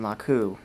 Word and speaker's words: laku: And in particular, we're going to talk a little bit about the Haitian family compound, the Haitian laku. Am I pronouncing that right, Joseph?